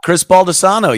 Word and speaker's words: Baldessano: How do you say his name? Chris Baldessano, yes.